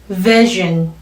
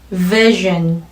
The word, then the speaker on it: vision: V sound, 윗니로 아랫입술 끝을 살짝 성대 울림 꼭 넣어주셔야 돼요.